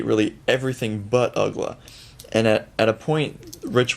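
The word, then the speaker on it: Uggla: media world did not quite know how to pronounce his name and they would say really everything but ugla and at a point rich waltz and tommy hutton started saying his name is dan ugla to anyone and everyone who mispronounced it and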